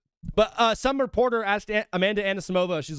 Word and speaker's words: Anisimova: Anisimova.